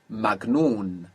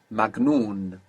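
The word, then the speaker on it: مجنون: n n good and this G which is pronounced G in Egypt in classical Arabic is like J so bearing that in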